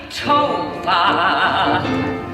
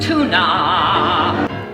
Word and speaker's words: Tovah: Won't you please call me Tova, not Tuna?